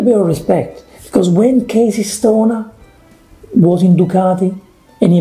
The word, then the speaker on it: Casey Stoner: know that's his name in italy it's casey stoner they don't say casa estoner okay okay it's a casey stoner so a little bit